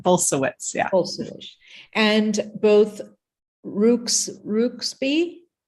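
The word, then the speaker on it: Bulsiewicz: to butcher that word yeah it's bolsuits so it's a it's a Polish name similar to my name but bolsawitz yeah and both Rooks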